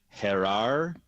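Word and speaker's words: Jerar: pronounce the first name do you do you know how to correctly pronounce j r a r it is understanding that it is herar and Carion uh we'll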